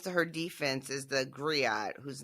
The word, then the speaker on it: griot: I was going to say someone who comes to her defense is the griot, whose name is like Mbali, maybe? Mbali, yes. Okay. And that's Griot is how you say that.